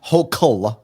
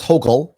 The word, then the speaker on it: Hochul: Her name is pronounced Hochul. It is a hard. Hochul? It's pronounced Hochul. Yes, like yokel, Hochul, like that.